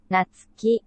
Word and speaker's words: Natsuki: How do you pronounce it? Natsuki? Sayori? Teach me. Natsuki, Sayori, Monika, Yuri.